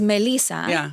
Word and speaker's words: Melissa: Is Melissa because that's, you know, how it's pronounced in Spanish.